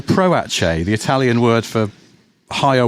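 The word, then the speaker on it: Proace: But it always looks to me like it should be pronounced Patche. Pratchce. No. Proache.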